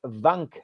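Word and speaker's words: Wank: Not sure this is three amigos friendly, but pronounced vank.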